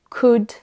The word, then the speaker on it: could: Il en existe d'autres où le L est silencieux, comme would pour utiliser le conditionnel, could et should. Donc dans tous ces mots-là, le L est silencieux, ne se prononce pas du tout.